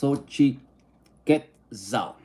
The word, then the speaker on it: Xochiquetzal: Xochitlitza pronounced Xochiquetzal.